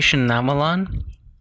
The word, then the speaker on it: Shyamalan: Night Shyamalan movies. Shamayalan? How do you say his name? Everybody says it different. It's pronounced Mnate Shyamalan.